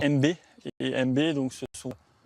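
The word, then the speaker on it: Aime Bay: C'est MB. Alors MB A-I-M-E, plus loin B-A-Y à la porte. En fait, ça s'écrit comme ça, mais ça se prononce MB.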